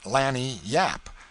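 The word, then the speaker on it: lagniappe: expressive handy word lanyap they pronounce it Lanny Yap it is Spanish so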